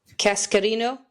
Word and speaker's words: Cascarino: Cascarino.